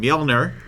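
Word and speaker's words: Mjölnir: lately, Amon Amarth, and the song is called Mjolnir. Right, Dylan? Did I pronounce that correctly?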